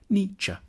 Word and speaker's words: Nietzsche: the challenge begins with how to pronounce his name the first bid should sound like me the second like cha Nietzsche then we need to get past some of